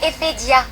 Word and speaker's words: Ephedia: Prononce bien le nom de ton pays, petite conne. Parce qu'il faut vraiment le faire pour ne pas réussir à prononcer le nom de son propre pays. N'a qu'à bétailler. C'est Ephedia.